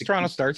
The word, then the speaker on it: TorontoStarts: I never remember how to say it properly. It's TorontoStarts. You had it right the first time.